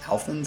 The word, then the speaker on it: Alphans: Alphans is how you say it.